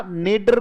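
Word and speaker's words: nadir: उस कंडीशन को हम नादिर कह सकते हैं, या नेडर भी ये पढ़ा जाता है. बोलो नेडर. ब्रिटिश और अमेरिकन का फर्क है, पर हम तो इसे स्पेलिंग के आधार पर अगर लेना चाहेंगे तो नादिर अच्छा शब्द है.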